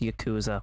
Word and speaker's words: Yakuza: Also, it is pronounced Yakuza.